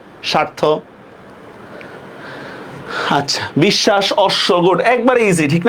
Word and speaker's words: বিশ্বাস: শব্দের মধ্যে বা শেষে বফলার উচ্চারণ কি হবে? দ্বিত্ব হবে না? আগেই পড়ায় ফেলছি, উচ্চারণ দ্বিত্ব। যেমন দেখেন খুব ইজি, বিশ্বাস, দেখেন তো বিশ্বাস শব্দের মধ্যে শটা আমি দুইবার লিখবো কিনা? বিশ্বাস, বরস্কার বি, তালব্য হসন্ত, তালব্য আকার, তালব্য হসন্ত, বিশ্বাস। হয়েছে না?